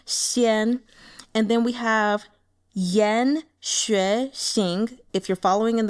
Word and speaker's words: Yan: And I'm not doing the tones, just the, the pronunciation. So, Bing Xian. And then we have Yan, Xuexing.